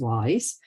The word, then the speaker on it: WIIS: the board for Women's National Security which is pronounced wise as well as the CEO and founder of